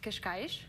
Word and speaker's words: Cascais: I grew up in a town called Cascais. Cascais.